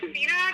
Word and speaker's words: Sabina: It's Sabina, just like Sabrina, but instead of an R, it's an S.